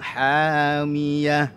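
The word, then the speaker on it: حامية: Hamiyah huruf ha, bukan ha tapi ha.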